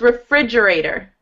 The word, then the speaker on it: refrigerator: Refrigerator. Refrigerator. Good. The T, it sounds like a D. Mm-hmm. So that's one thing. And the second thing is that the emphasis is on syllable 2.